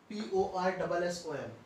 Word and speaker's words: Poisson: P-O-I-S-S-O-N. Its pronunciation is Poisson.